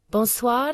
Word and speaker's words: Bonsoir: The R is a bit softer than in English.